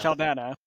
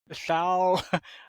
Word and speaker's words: Saldana: Avatar and Guardians of the Galaxy star Zoe Saldana, I think that's how you pronounce her It's name? just Saldana. Yeah. Saldana, has expressed concerns about the prolonged delay of